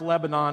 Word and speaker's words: Lebanon: Cracker Barrel is based out of Lebanon, Tennessee. It's not pronounced Lebanon, it's Lebanon, where I'm from, and about 20 miles east of Nashville.